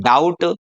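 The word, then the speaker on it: doubt: तो यदि टी से पहले बी हो तो हमारा जो बी है वो क्या रहने वाला है, साइलेंट रहने वाला है। जैसे इसको बोलेंगे हम डाउट, डेट, इसको डेप्ट नहीं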